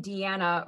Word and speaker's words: Deanna: place as well well my name being deanna rhyming with banana i think i was